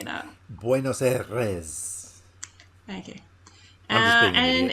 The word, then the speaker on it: Buenos Aires: Is how you say it? Buenos Aires. Yeah. You got to roll the R. I shouldn't have even attempted to say that. Buenos Aires.